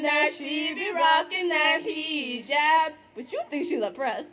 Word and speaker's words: hijab: Welcome to Hijab 101. Lesson number 1, basic pronunciation. It's hijab, not hijab. Learn to work your tongue around it. Bend and twist until you get the perfect sound.